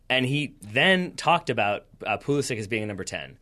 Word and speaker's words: Pulisic: Pulisic specifically says, I want it pronounced Pulisic. Arena's going Pulisic.